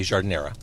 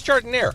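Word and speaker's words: giardiniera: Because my journalistic instincts kick in, and I always want to say jardiniera. But here in Chicago, it's jardiniere. It's not French.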